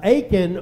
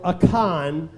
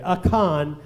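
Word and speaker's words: Achan: if you remember uh aen or aan is the way it's pronounced in the Hebrew dictionary aan uh he stole some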